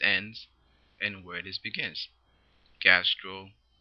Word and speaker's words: gastroenteritis: Imagine trying to say gastro enter o-itis. That actually makes the pronunciation much more complicated than it needs to be.